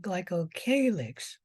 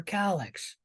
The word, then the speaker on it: glycocalyx: term any questions about glycogalyxes and you can pronounce that glycocalyx or calyx all right any questions